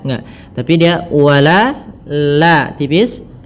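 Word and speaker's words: ولا: mimnya harus jelas kemudian W di sini wala tipis jangan wala wala enggak tapi dia wala la tipis w w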